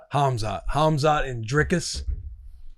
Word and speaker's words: Dricus: Hamzot and Dricus. Yeah. Drius Duplesi, right? There were comments in the YouTube that people were making fun of how pronouncing making their own my ass for saying Driscus, which I understand.